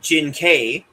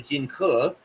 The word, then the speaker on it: Jing Ke: Uh Donnie plays uh as as Duncan pronounces it, Jing Ke. It's actually Jing Ke.